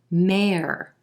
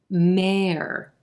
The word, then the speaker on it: mayor: er sound mer mer this word actually rhymes with words like fair care pair mayor the city has